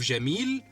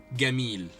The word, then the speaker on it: جميل: Instead of جميل we say جميل. This is how we pronounce it in Egyptian Arabic.